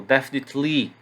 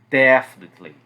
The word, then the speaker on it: definitely: repeti-las em voz alta, marquem as sílabas tônicas, certo? Então, probably, certainly, definitely. Muita gente tem esse hábito de entonar no final. Então, definitely, certainly, não. Probably, certainly, definitely, ok?